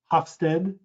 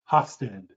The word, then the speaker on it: Hofstede: dutch researchers one researcher his last name is hofstede i'll spell that for you it's h o f as in frank s as in sam t e d e hofstede geert hofstede has a five factor model that